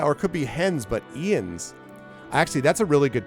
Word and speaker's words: Jens: us with a visit his name is pronounced ian's the hell do you get ian's out of j-e-n-s what i can understand jens ian's it's a j but you pronounce it like an i what so i've just